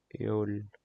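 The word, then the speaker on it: Öl: pronounced asol EOL AOL you can replace the o with the EO then you will get the correct pronunciation EOL EOL which is oil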